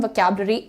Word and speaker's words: vocabulary: vocab तुम्हारा जो emphasis है वो इस पार्ट पर पड़ेगा, इस पर नहीं।